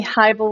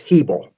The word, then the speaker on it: Hebel: Hey everybody, I have Dean Heibel with me. Did I say it wrong, Dean, again? Let me start over. It's That's right. It's Hebel. Hebel.